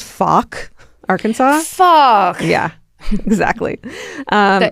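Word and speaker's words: Fouke: So finally in 2008, federal agents raid Tony's house in it's called Faulk, Arkansas. Faulk. Yeah, exactly. Um it's pronounced Faulk.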